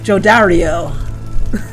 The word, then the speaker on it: Jodariel: Oh my god, this is the first time I'm hearing how to pronounce her name. Jodariel.